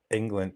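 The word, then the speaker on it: Englund: England. Yeah, Robert England is uh it's not really spelled like England, the the the country and everything, but you might as well say it like that, even though it's like a gung little stuff.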